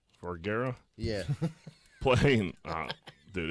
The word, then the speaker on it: Vergara: Vergara. Vergara.